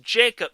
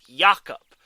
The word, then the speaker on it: Jacob: last time it is pronounced it is not pronounced jacob silverberg it's yakup if i get someone going up to me